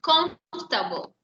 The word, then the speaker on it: comfortable: Y tenemos comfortable. The most. Very good. The most comfortable. Esta OR no se pronuncia. Eso es mudo, Hawaii. Comfortable.